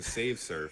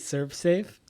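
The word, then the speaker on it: ServSafe: house was so clean stop saying save surf I don't I don't get why you think that that's that's the pronunciation of it what is it Serve Safe yes I don't know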